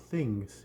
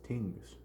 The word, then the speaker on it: Tings: cute my pronunciation here it is not things it is thingss so uh went there